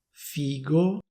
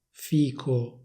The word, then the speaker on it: figo: Una variante con il suono g, figo, e una variante con il suono k, fico. Alcune persone dicono figo, altre persone dicono fico.